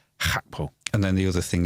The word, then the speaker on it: Gakpo: Yeah, can we say Gakpo, because that's how we pronounce a G in this country. But the native pronunciation is Hakpo.